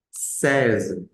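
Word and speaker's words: seize: Es una palabra simple bien qué se dice sees sees sees se escribe es e i Z e c eem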